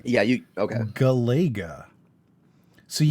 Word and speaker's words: Galaga: How do you pronounce it? Galaga. It's Galaga.